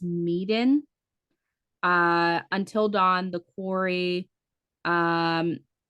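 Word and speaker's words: Man of Medan: So you have like Man of, I think it's pronounced Meeden, Until Dawn, The Quarry, um, what is this one?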